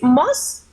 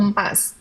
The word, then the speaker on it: most: the pronunciation is most or mas? Most? Most. Okay. Yes. Most.